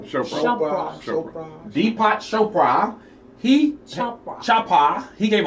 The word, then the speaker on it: Chopra: How you pronounce his name? Chopra.